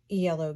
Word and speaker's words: Iello: the the next stack these are all yellow games um if you want to know how to spell that that's yellow iello they are a french